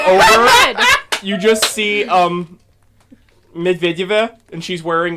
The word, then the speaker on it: Medvedeva: That's actually the correct pronunciation, by the way. Evgenia Medvedeva Yeah, and Medvedev.